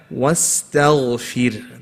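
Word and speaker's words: وَاسْتَغْفِرْ: You have to bring it in. So you don't say wasta. Not ta. What is it? Wasta. Ghain is heavy. Wastaghfir.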